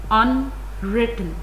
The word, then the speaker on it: unwritten: It has three syllables. As you can see, the second syllable has a mark of stress upon it. This mark shows that this syllable has a primary stress. The mark of primary stress is here on the top at the beginning of the syllable, and this mark on the bottom at the beginning of the syllable shows that this syllable has a secondary stress.